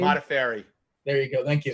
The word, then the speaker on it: Modafferi: How do we pronounce her last name? Modafferi.